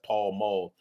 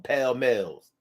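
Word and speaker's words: Pall Mall: pack of pale males that's Paul Maul for some reason the young people around my way would call them pale males I'm like what's the use of us going to school if we mispronounce things that we clearly can that we clearly know how to spell so we spell it p-a-l-l-m-a-l-l but we pronounced it pale male anyway that might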